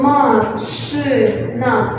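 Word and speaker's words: машина: So ma-shi-na. Let's say ma-shi-na. It's the same with auto, so it's a car. Mashina.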